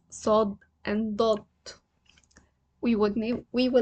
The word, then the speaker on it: ص: The name is Saad with a heavy S, not said. Saad, you will see here that I wrote it with double S because it's not S, it is sa. The sound is sa.